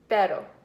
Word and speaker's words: pero: But or however, pero, which is different than perro with 2 R's.